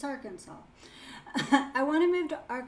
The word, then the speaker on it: Arkansas: Is that how you say it? Because I want to say Arkansas, but I feel like that's wrong. It's Arkansas.